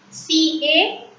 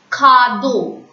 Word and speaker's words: cadeau: C-A-D-E-A-U. Cadeau. Repeat. Cadeau. C and A together it's pronounced as ka. D-E-A-U. E-A-U in French is pronounced as O.